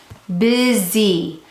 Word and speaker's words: busy: Busy, busy, busy has how many syllables? 2 syllables. We're going to think to spell bus. We're going to think to spell bus, I. Okay, busy.